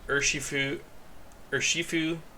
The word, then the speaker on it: Urshifu: So you have Urshifu.